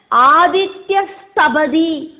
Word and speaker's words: ஆதித்ய ஸ்தபதி: அதே மாதிரி ஆதித்யா தபதி அப்படின்னு பதம் பிரிச்சு நம்ம பார்த்தோமே ஃபர்ஸ்ட் கத்திய பாகத்துல. நம்ம அதை சொல்லறத ஆதித்ய ஸ்தபதி அப்படின்னு தான் சொல்லணும். அதுல என்ன எழுதியிருக்கோ அதே மாதிரி தான் நம்ம அதை ப்ரொனவுன்ஸ் பண்ணணும்.